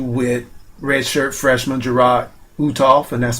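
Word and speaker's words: Uthoff: um the issue with red shirt freshman gerro utov and that's spelled u t h o FF utof or utof I'm sorry he basically decided earlier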